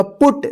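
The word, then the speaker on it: put: पे आप पढ़ना होगा पुट देखिए यहां पे एक जगह जो है ना यू का अ उच्चारण हुआ और यहां पे यू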